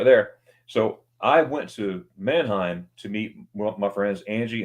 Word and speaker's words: Mannheim: They pronounce it Mannheim. Yep. They Americanize it Mannheim, and they say Mannheim too, but a true one person from Mannheim is Mannheim. Oh, right. Exactly, whatever, Mannheim.